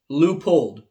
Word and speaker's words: Leupold: their plant in oregon it's pronounced leupold so perhaps i'm the one that's cringing when the experts pronounce it wrong but truth be told i'm not the language police so i really don't care how you say it as long as